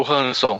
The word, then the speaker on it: Ransom: o Hanson Olha Só falando com a pronúncia correta aqui tentando pelo menos sentir o ransom ransom isso que aparece aqui